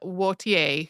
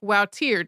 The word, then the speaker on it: Wautier: century Flemish painter Michaelina Wautier, who you will also hear pronounced more like Wautier, depending on whether the person is using a French pronunciation or a Dutch one.